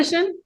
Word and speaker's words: aesthetician: Aesthetician is is how you pronounce it. Yeah. Aesthetician.